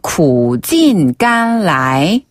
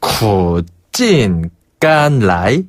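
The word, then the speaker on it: 苦尽甘来: 오다라는 뜻이 있어서 고진감래, 중국식 발음은 구진간라이.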